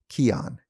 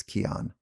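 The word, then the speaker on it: Kion: fit amino acids are essential and that's why keon aminos are one of my go-to supplements for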